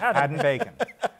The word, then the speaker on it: Hadden-Paton: His Harry Haddon Peyton. We learned how to say his name, and viewers should know this now. You think ham and bacon. That's what he called it. Haddon Bacon.